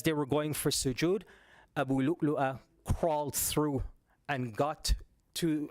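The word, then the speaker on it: أبو لؤلؤة: Yeah, Abu Lu'lu'a, okay? Abu Lu'lu'a. So you probably hear people also pronounce it as Abu Lu'lu.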